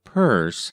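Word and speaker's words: Pierce: She had one president, pronounce him Purse, and make the most of it for better or worse.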